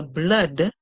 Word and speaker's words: blood: Another word where two O's say is in the word blood. So blood, all we'll do is